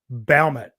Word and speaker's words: Baumert: If you spelled it phonetically, B-O-W is in bow. Take yeah, a bow.